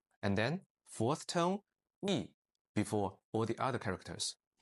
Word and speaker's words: 一: First tone, yi, when alone or at the end. Second tone, yi, when before a tone 4 character. And then fourth tone, yi, before all the other characters.